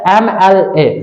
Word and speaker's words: MLA: दिया गया है his mother is dash dash MLA। ध्यान दिए रहना, यही है। अगर संक्षिप्त में लिखा जाए तो आप सबसे पहले उच्चारण समझेंगे।